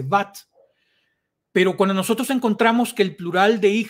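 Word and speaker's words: בת: Por ejemplo, hoy en día eh hija no se dice vaná, vaná es el verbo construir, sino que se dice bat.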